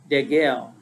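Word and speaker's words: degel: father's house standard comes from the hebrew word de gel we spell it d-e-g-e-l and it means a flag or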